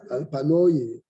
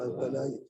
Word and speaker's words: על פניי: Et pour les Ashkenazes, ils vont te dire Al-Panoï. Et nous, on va dire Al-Panaï. Share en sham et narta.